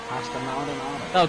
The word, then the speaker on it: Pastor Maldonado: Yes, it's Pastor Maldonado.